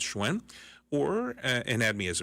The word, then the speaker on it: Hsuen: my personal Facebook page hsen that's how you pronounce schwen or and add me